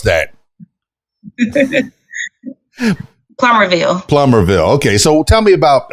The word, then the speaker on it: Plumerville: I always go plumerville plummerville how do you pronounce that laughs plummerville plummerville okay so tell me about all right if